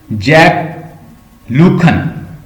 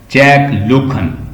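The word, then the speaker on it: Jacques Lacan: जैक लूखन, GACQUE, जैक LACAN, जैक लूखन इसकी pronunciation है।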